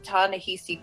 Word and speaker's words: Ta-Nehisi: She and I believe Ta-Nehisi Coates, is the way to say his name, are two political activists in civil rights, Black civil rights movement.